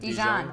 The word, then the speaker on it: Dijon: Dijon mustard is that how you say it Dijon yeah you got it like Deeds that's right